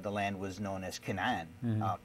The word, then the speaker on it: Canaan: back then the the land was known as Canan Canaan we pronounce it and the people of the land